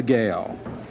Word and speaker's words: Gale: The artist is Lisa Gale, pronounced Gale, excuse me.